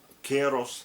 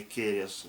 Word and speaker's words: Керос: То есть в людской памяти очень четко лежит вот это вот произношение, да, название Лозым, Варью, Керос, а не Керес и так далее.